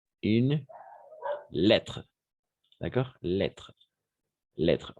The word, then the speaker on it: lettre: Lettre. Lettre. On ne prononce pas le E à la fin. Pas lettré, lettre.